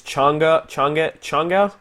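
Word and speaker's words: Chang'e: I use Changa. It's spelled change, but there's like an apostrophe E for some godforsaken reason, which changes the pronunciation.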